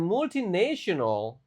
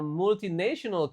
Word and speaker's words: multinational: When I was working in a multinational company, national ya, bukan naional. Jadi T-nya dibaca kayak S di sini. When I was when I was working in a multinational company, I was presenting ideas.